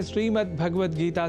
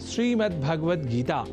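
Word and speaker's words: श्रीमद्भगवद्गीता: यह शब्द ही है जैसा कि मैंने उच्चारण किया श्रीमद् भगवत गीता जिसे अनवत वश हम श्रीमद् भगवत गीता या श्रीमद् भागवत गीता या भागवत गीता कर जाते हैं जो सर्वथा अशुद्ध है इन उच्चारण में स्वर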